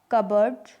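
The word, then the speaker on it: cupboard: लेकिन कुछ common random word हैं जिनमें पी साइलेंट रहता है, जैसे क्यू, कबर्ड, raspberry, receipt. Receipt यानी रसीद, नेक्स्ट है आर।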